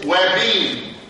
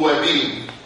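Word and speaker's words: ouabain: كان في واحد تاني اكتف كارديو جلايكوزايت اسمه وابين. اسمه وابين. في ناس بينطقوا اوابين. قل وابين ولا تقل اوابين، فاهم ازاي؟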